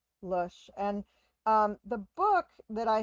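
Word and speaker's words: Lösche: It's just L-O with an umlaut over it, S-C-H-E. Lush.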